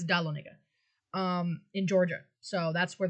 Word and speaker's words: Dahlonega: These were struck in the branch mint at, if I can pronounce the name right, Dahlonega? Or is it Da Lonega? think it's Dahlonega. Yeah, I think it's Dahlonega, in Georgia.